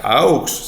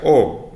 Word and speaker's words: aux: pero no se pronuncia aux, se pronuncia o, ¿vale?